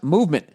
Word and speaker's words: MVMT: and clean original designs mvmt pronounced movement grew into one of